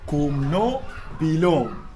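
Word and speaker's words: Kumno phi long: In this, all of you fail, but you should pronounce it like kumno bilong. Kumno bilong. Kumno bilong mean how are you?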